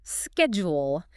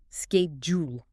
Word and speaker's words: schedule: In American English, it's typically schedule. Starts with a hard scabe sound. Schedule. Okay, schedule. In British English, it's more often schedule.